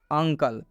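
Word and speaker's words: uncle: उच्चारण अ हुआ है नियम क्या है यदि यू के बाद यू के बाद अगर दो व्यंजन आते हैं तो इस यू का उच्चारण अ होगा सिंपल और साधारण रूल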